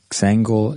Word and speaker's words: Xangle: anyone again it's uh xangel dot io i think i'm pronouncing that wrong it's like uh for some reason i make a z sound when it's supposed to be an x i've noticed that about